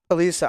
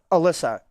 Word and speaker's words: Alisa: Now, if Al if Alisa I think it's Alisa. I could have been wrong this entire It's Alisa. Alisa or Alyssa. I think it's Alisa.